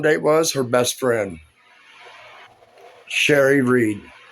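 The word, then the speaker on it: Cheri: Her best friend, Sherry Reed. Her name is spelled C H E R I, just like the adult men's magazine. but annunciated a different way.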